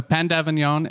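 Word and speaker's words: pain d'avignon: because i love how you say it so pandavanyon is uh p a i n p pain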